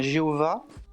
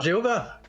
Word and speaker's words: Jéhovah: pas Jéhovah. Attention, ça s'écrit Yahvé. Alors tu le trouveras avec un V, tu le trouveras avec un W, mais par contre, ça se prononce Jéhovah.